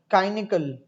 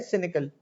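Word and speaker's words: cynical: खा इज फॉर कार, तो काइनिकल नहीं, सी का साउंड देगा यहाँ पर, ठीक है ना। तो साइनिकल नहीं, ये वाई वाला उस तरफ नहीं जाएगा। अब कुछ वर्ड्स की प्रोनाउंसिएशन चेंज होती है। आप सी वाई साइकिल में बिल्कुल सही साइकिल कर रहे थे उसको, लेकिन ये है सिनिकल।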